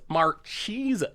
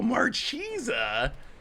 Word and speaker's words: Marchesa: It's officially pronounced Marchesa. Cheesa? No, Marchesa.